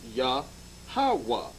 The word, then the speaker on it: Yahweh: 3-syllable breakup, the tetragram, the Y, the H, and the W and the H is pronounced Yahweh. Now, we're going to go